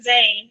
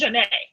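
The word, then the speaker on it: Zhané: spotify single covering um janae which i was this year uh today's years old when i realized it wasn't zayn and it was pronounced janae i never knew that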